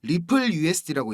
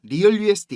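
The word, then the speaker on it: RLUSD: 전망이 됩니다 자 형님들 rl usd 이거 이거 뭐라고 읽어야 된다 그랬죠 리플 usd고 읽는 겁니다 리얼 usd 이거 아닙니다 갈링하우스가 그 암스테르담에서 스테이블코인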